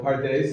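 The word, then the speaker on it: פרדס: So, pardes is usually pronounced this way. Pardes.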